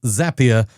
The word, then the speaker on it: Zapier: That's very nice, but I wish they'd said it correctly. Zapier rhymes with happier.